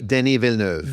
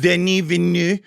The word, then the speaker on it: Denis Villeneuve: And meanwhile, over 1,000 prominent directors and actors and writers, including Denis Villeneuve, however you pronounce that guy's name. Denis Villeneuve. Denis Villeneuve.